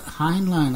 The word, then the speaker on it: Heinlein: is always coined by American writer Robert a Heinlein if that Heinlein I that's right this way is pronounced addressed 1961 science fiction novel stranger than